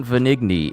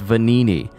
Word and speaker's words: Venigni: It's not Venigni, it's Venini. I knew I should have been making the G silent. It's like saying Vic Monona, but you don't say the G in Monona.